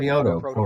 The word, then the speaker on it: Kyoto Protocol: Yeah, Kyoto Kyoto Protocol.